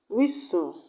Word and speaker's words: whistle: is on silent letters silent letters examples of words that have silent letters are listen whistle castle the t's are silent when you have s and t together in a word when you have t